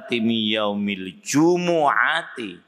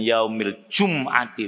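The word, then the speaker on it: يَوْمِ الْجُمُعَةِ: dulu sudah saya jelaskan udati Yaumil jumuati membacanya begitu ya bukan Yaumil jumati bukan yaumilumtiillahi akhiril Ayah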